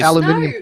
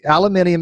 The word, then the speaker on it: aluminium: need I need a justification though hey Ali aluminum foil no a Lavinia MS correctly no it is aluminium is the correct rate so why would we